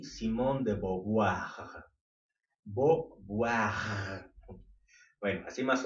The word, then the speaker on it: Beauvoir: Beauvoir. Bueno, así más o menos sería la pronunciación. Si le quieres decir Beauvoir, también está bien, porque pronunciar esas palabras francesas está medio dificilona.